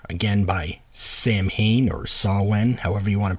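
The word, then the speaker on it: Samhain: should start with the next album is s Sam Hayne or sawn 3 November coming fire again by Sam Hayne or sawen however you want to pronounce it and yes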